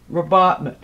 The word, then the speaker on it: rabatment: we'll stick to the most current spelling and pronunciation robotman um the the concept has been used for